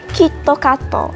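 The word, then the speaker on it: キットカット: that's it in conclusion even if a word is officially pronounced in a certain way in english japanese people will pronounce it differently for example as i mentioned earlier mcdonald's disneyland starbucks they become mecca oh and kitkat and google another example they become kitokatto and gugudu and another thing that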